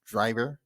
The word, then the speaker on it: Draiver: It's pronounced Draiver, kind of French.